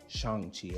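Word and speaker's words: Shang-Chi: as problems would be Shang Chi or Xiang Chi as is properly pronounced that movie is the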